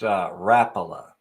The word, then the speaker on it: Rapala: It's pronounced Rapala.